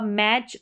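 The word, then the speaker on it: match: यह लास्ट में आएगा मैच और कैच। जैसे कि सी एच को तो च पढ़ा जाता है। यहां पर देखा जाए तो टी साइलेंट होता है। ठीक है? टी का साउंड नहीं आता।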